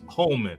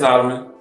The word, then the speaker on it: Holleman: I'm sorry, I said Holleman. It's Holman. My bad, Austin. Holleman. It's Holleman. Oh, it is Holleman. So wait, is it Holman or Holleman? Holleman.